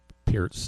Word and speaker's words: Peart: called him Neil per I heard it called Neil per a million times Neil P's the real thing